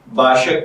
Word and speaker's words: Bashaq: तो चलिए बढ़ते हैं अपने आज के टॉपिक बाशक की जानिब।